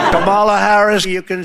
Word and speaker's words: Kamala: I know you have so much trouble pronouncing her name. Kamala Harris, you can say Kamala, you can say Kamala.